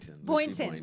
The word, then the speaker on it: Boynton: Boynton.